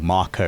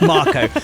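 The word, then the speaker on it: Mako: the bit where they they finally reached the makeer reactor or Marco reactor I should say that's how it's officially pronounced Marco even though I've already said Mo they get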